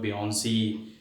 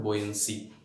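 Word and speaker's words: buoyancy: अच्छा, ये इसको बहुत सारे लोग बियॉन्सी और ये और वो फलाना, बेसिकली इसकी जो सही प्रोनाउंसिएशन है वो है बोयंसी, ठीक है।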